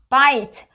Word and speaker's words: buys: buys. S 앞에 보통 모음이 있을 때는 z로 발음돼요.